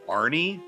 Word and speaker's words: Arne: The guy's name is, I think it's pronounced Arne. It's spelled A-R-N-E, Johnson.